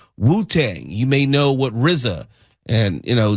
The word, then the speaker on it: RZA: If you are a fan of Wuang you may know what Rizza and you know Jiza which is RZA and GZA.